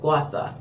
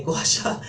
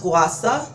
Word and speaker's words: Gua Sha: so this is the Gua Sha, it's actually pronounced Gua Sha, but I'm so inclined to say Gua Sha, so forgive me if you hear me say that throughout the video. But it's pronounced Gua Sha, and it is the stone versus the roller,